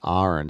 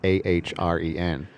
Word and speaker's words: Ahren: Yeah, my name's pronounced Ahren, so it's Ahren. So you break the AH and then the REN. Ahren.